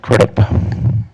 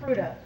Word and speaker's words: Crudup: Vice President Crudup, is that how I say it? Did I say it wrong? You did, but I'll forgive you.